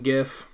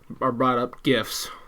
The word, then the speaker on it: GIF: on the pronunciation of GIF, and I have been saying the correct and only correct pronunciation of the freaking word It's GIF, not GIF. It is not GIF.